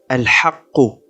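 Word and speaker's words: الْحَقُّ: Ou encore dans un autre verset où est écrit le mot al-haqqu. Il sera alors lu al-haqq.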